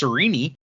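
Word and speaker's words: Sarene: And we cut over to Serene, who the pronunciation guide says is should be pronounced Sereni, but I think Sereni sounds dumb, so I'm not going to do it.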